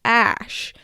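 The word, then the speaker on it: Æ: I'm a keyboard yeah it's pronounced ash so it's X ash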